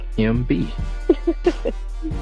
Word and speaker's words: AMBE: Guys, it's AMBE. AMBE, exactly. Spelled like it sounds.